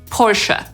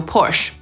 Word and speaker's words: Porsche: My po polsku mówimy „porsze” i producent tej marki również sugeruje, żeby tak tę nazwę wymawiać także po angielsku, czyli powinniśmy mówić /ˈpɔːrʃə/. I wielu Brytyjczyków i Amerykanów tak mówi, ale nie wszyscy wiedzą, że tak powinni mówić i mówią /pɔːrʃ/.